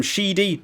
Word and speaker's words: Sheedy: a bit of him callum sheedy to rhyme with speedy as i just said